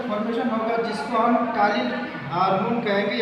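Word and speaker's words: ptyalin: Formation होगा, जिसको हम टालिन हार्मोन कहेंगे या टालिन एंजाइम कहेंगे, जो कि पी साइलेंट होता है, उसको आप पटालिन नहीं बोलिएगा, उसको टालिन बोलिएगा।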